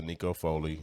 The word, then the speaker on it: Aneko Foley: I feel like at the same sense, but the main thing, this is Networking Mondays, and this is Aneko Foley.